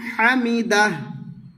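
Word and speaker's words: الحمد: লাকাল লাকাল হামদ হামদ হামদ মানে দালে টাচ হবে দাল সাকিন করে কলকলা করতে হবে বা হামদ দু আওয়াজটি অল্প যাতে মদ না হয়ে যায় এভাবে বলতে হবে হামদ হামদ রাব্বানা লাকাল হামদ এরপর সিজদায় গিয়ে এই দোয়া পড়িবে।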